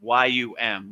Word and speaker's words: Yam: So the yam which is the heart chakra you know the the proper pronunciation is yum y u m right like yum.